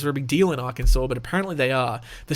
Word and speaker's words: Arkansas: Kansas I'm just kidding I know how it's pronounced for some reason it's Arkansas but I mean it's an S at the